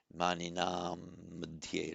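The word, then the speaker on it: maṇīnāṃ: But here, because it's followed by an M, it would be pronounced as an M. Maninam madhye, as if it were a double M.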